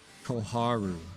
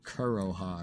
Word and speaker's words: Koharu: to buff up koharu I was going to call her kuroha again I was trying to think of how I mispronounced it earlier I was trying to think about that I couldn't remember how I mispronounced it I I call it kuroha is what I did